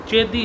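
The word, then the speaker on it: चेदि: छेदी राज शिशुपाल पहली बात तो इन मोहतरमा को यह नहीं पता कि चेदी है छेदी नहीं।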